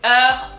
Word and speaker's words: Heures: So the H is silent, so we can already like forget about it. Out of the way, bye-bye. And then EU, remember from feu, EU is E. So re, the R from deep down, from here, from over here. Heure.